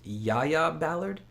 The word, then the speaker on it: Jaya Ballard: series a few times Jodha says that it's a soft J so it's Yaya Ballard but I could be